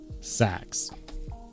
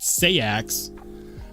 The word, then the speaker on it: seax: Sachs. Although in the UK or in Scotland, uh they actually pronounce it seax, but if you say that, people over here will troll you mercilessly.